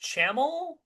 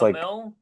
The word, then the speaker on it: Camil: Now they um yeah, this dude uh is it is it pronounced Chaml? No, it's Camil Camil.